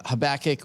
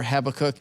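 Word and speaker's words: Habakkuk: Then you get books like uh Habach or Habacook depending on how you want to pronounce it that are it's a song and it's prophetic.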